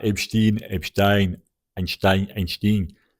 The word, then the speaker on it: Epstein: leur diraiis directement que je le prononce comme Einstein. Donc ce sera Epstein.